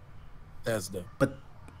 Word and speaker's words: Bethesda: Bethesda.